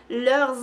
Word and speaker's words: leurs: Y la S no se pronuncia a menos que haya una vocal. Y por ejemplo, leurs amis.